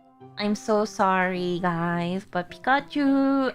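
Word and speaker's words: ピカチュウ: I'm so sorry, guys, but Pikachu actually has long U.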